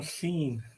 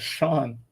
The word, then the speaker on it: Sean: it exceeded theirs you realize you pronounced Sean's name wrong you said scene same same thing you call him seen Sean no you said Sean Lennon you said seen instead of Shan I said Sean and then um I'm serious